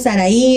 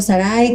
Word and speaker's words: Saraí: era Saray Saray entonces con acento en la al final en la Biblia no te lo menciona como acento pero o sea la mencionamos Saraí o Sarai como verdad porque no tiene acento en realidad pero es importante saber